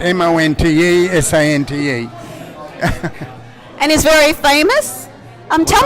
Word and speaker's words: Montesante: How do you pronounce his surname? John Montesante, Montesante.